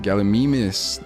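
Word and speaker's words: Gallimimus: Galamimus, that's how they pronounce it in this game.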